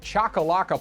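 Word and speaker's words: Choccolocco: to be kicked out to be played at chakalaka Park which by the way I did the research and yes that's how you pronounce it in Oxford Alabama from Tuesday May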